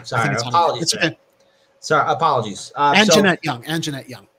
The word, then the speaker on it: Anjanette: uh city to offer 2.9 million settlement to anita young over the bots police raid on a jet on a yet not young i think it's pronounced uh uh yeah yeah sorry sorry apologies uh young and jeanette young and jeanette young so uh mayor lori